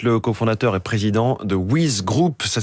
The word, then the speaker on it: WYZ: Vous êtes le cofondateur et président de Wiz Group. Ça s'écrit WYZ.